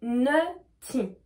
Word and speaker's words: nutty: Donc je répète, on a naughty et nutty, d'accord? Donc là pareil, naughty, on va prononcer O, naughty, et nutty, on va prononcer E, U.